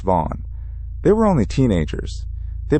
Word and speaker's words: Vaughan: McGinnis returned to the spot with his friends, John Smith and Anthony Vaughan, pronounced Vaughn.